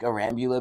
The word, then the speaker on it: Arambula: However, the correct pronunciation, if you are say eating salsa at a Spanish restaurant, Rambala salsa.